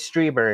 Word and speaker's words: Strieber: or his story and it is strieber is how you pronounce it go yeah well maybe